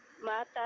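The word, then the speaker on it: متى: भाई इसका प्रोनाउंसिएशन मता होगा या माता माता होगा? मता, मता मता तज़हबू इलल मुहंदिस, यानी आप इंजीनियर के पास कब जाते हो?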